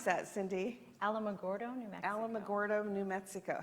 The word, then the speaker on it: Alamogordo: she was born in my how do you pronounce that Cindy Alamogordo Alamogordo New Mexico how many people live there